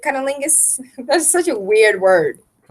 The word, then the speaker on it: cunnilingus: done very easily by cunnilingus is how you pronounce it cunnilingus that's such a weird